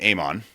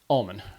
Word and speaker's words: Almon: So, uh part of me wants to pronounce your name Aman, but part of me is it's Almond. Almond. Almond. Okay. So, it's like almond without the D. So, Almond.